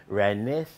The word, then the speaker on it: Renesda: And so the proper pronunciation for it is Renesda.